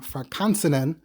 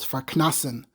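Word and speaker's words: farknasn: While there is a form Farkansenen, I would assume that without the nen, then it's probably pronounced Farknasen and not Farkansen. The element here is knas, so it's Farknasen. I never heard it pronounced, and I never thought about it too much, so my mind just sort of reads it as kansen, but again, logically it would be Farknasen.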